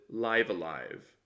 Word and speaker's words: Live A Live: in 2022 on YouTube they pronounce it live alive so rhymes with dive a dive or chive or Hive or Clive I think I think